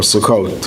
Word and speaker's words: Sukkot: So the first holiday is Pesach, the second holiday is Shavuos, and the third holiday is Sukkot, or Sukkot, if you use the Sephardic pronunciation.